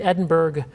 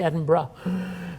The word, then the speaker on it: Edinburgh: And the guy got up and he said, "It's great to be back in Edinburg." And everybody kind of cringed in the audience. So if you go over and you're performing in Edinburgh, be sure that you say Edinburgh uh when you get there.